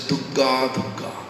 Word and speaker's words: Durga: you're living for Calcutta, they say Dugga. Bengali tradition, old lady, who has no understanding about Krishna, no understanding about Hare Krishna Mahamantras benefit, they are always pronouncing this word Durga, Durga.